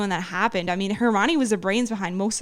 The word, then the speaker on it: Hermione: he relies too much on hermony and some of their hermione i keep saying her name wrong and forgive you thank